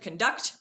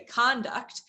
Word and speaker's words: conduct: We put the emphasis on a different syllable. Instead of conduct, we say conduct, but it's still all related.